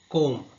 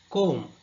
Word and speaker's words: comb: For example, night wrist comb So in the first word night, K is silent. In the second word wrist W is silent. In the third word third word comb, here B is silent.